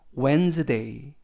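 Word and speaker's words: Wednesday: 않습니다 s 는 이즈 그리고 데 이 그래서 웬즈데이 웬 스 데이 라고 발음합니다 뜻은 수요일 이라는 뜻이고요 키 h 는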